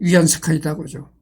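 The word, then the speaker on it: 袁世凱: 유한 스카이가이 사람이 한문 발음으로 원세인데 중국 발음물은 위안 세카이다죠.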